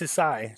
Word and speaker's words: Sisi: I believe it's pronounced Sisi.